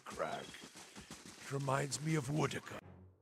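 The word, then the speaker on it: Woedica: it reminds me of wooda I've been pronouncing that as wood o Shadows huh okay just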